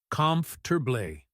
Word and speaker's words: comfortable: Most people say calm for clear syllables. But listen carefully to how I say it. Conf turbé. That middle part just melts together and the stress hits that first syllable hard.